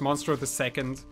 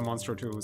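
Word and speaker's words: Monstro II: did you know that he's uh supposed to be pronounced monster the second like that that makes a lot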